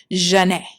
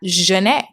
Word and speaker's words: Zhané: So, Renee is like, "Okay, let's combine our first names and we'll use like the French pronunciation of them, which is Jane.